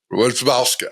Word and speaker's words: Wierzbowska: Wierzbowska, okay. Polish names. No one can pronounce them.